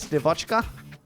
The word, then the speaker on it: Devochka: Devochka?